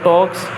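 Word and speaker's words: talk: अब देखिए यहां पर एल साइलेंट है के से पहले। ठीक है? शी टॉक के से पहले एल साइलेंट रहता है। के से पहले एल साइलेंट रहता है हमेशा।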